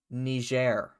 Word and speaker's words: Niger: Niger.